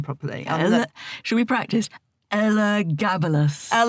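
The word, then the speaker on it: Elagabalus: but first I have to learn how to pronounce that man's name properly. Should we practice? Ella Gabalas. Ella Gabalas.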